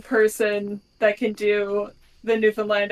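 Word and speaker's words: Newfoundland: the local people say how do you say it new land you hit the land hard new land new and land you land on the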